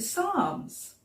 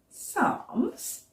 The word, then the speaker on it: psalms: It's got a silent p at the beginning, hasn't it? We don't say the p, otherwise we'd say psalms, and that sounds a bit funny. So we just say psalms instead.